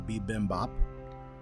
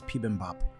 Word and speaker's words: bibimbap: Sometimes anglicized as bibimbap or bibimbap. It's a Wow. Korean dish. Huh. I think it's bibimbap. Bibimbap is Bibimbap. the Korean pronunciation.